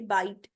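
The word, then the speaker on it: bite: जैसे बाइट, इसको बाइट टी तो नहीं कहेंगे ना, माइनी नहीं कहेंगे, रोपी नहीं कहेंगे, एपी नहीं कहेंगे, क्या कहेंगे, बाइट, माइन, रोप, एप।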